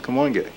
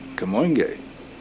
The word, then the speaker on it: Kamoinge: so we decided to call ourselves come on gay which people had very difficult times pronouncing and spelling but a spell ka mo ing e come on gay okay you know to